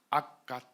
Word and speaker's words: 악갓: 성경에서는 이 지명을 뭐라고 발음할까요? 악갓이라고 나옵니다. 악갓. 악갓이라는 단어를 NIV 같은 영어 성경에 보면 아카드 이렇게 돼 있을 겁니다.